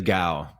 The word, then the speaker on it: Gao: It's pronounced with a G sound, so like G-A. You give like G-O-W, like cow. Dude, I have a good friend of mine with the G. It is Gao.